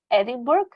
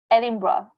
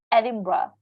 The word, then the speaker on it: Edinburgh: kingdom a lot of people are reading at edinburgh but actually is edinburgh i know it sounds funny like how can you pronounce bra but this is what it is